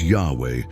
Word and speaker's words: Yahweh: This name is the Tetragrammaton, commonly pronounced as Yahweh and rendered as Lord in many English Bibles.